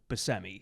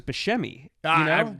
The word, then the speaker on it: Buscemi: And he's like so Buscemi, Right. And by the way, that is how you pronounce his name.